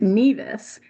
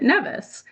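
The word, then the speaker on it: Nevis: to the island, you'll know that natives there pronounce it neas. And if you've been to Columbia University, you know that they pronounce it nevice.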